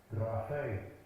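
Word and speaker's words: γραφή: Graphe. Graphe. You got to roll that R. Graphe. Graphe. For me, it's easier just to say graphe, but that's not correct.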